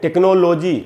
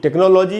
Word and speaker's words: टेक्नोलॉजी: अपने यहाँ इसको पढ़ते हैं टेक्नोलॉजी। टेक्नोलॉजी इसका गलत उच्चारण है, इसका शुद्ध उच्चारण है टेक्नोलॉजी। तो हमको इसको ऐसे पढ़ना चाहिए, टेक्नोलॉजी।